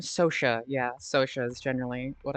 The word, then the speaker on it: Sotia: So now also is that how you pronounce name? Sosa. Yeah, SOA is generally what I do, but I've also heard Sotia and I that's totally fine as well.